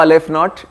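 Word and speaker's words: aleph-naught: that notation is Alf not how to draw Alf not it's a uh Hebrew letter yeah Hebrew first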